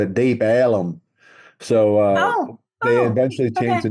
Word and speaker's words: Deep Ellum: had, they called it Deep Ellum. So they eventually changed the name to ELLUM, Ellum, because of the mispronunciation of it.